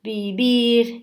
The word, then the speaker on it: beber: Todos os is com acento, lembrando que beber se escreve com V e é apenas o som do B. Todas as palavras em espanhol que se escreve com V tem o som de B, ok?